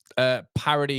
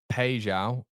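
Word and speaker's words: Paixão: Parody is pronounced Pejao.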